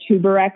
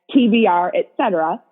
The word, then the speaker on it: TBR etc.: And it's called TBR, etc. So that's how you pronounce it. But if you were to look me up on Instagram, it kind of looks like a weird word, like tuberec or something, but it's actually supposed to be pronounced as TBR, etc.